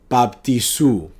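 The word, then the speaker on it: βαπτίζω: La palabra las Escrituras usan la palabra de bautismo en el griego que se pronuncia baptisú.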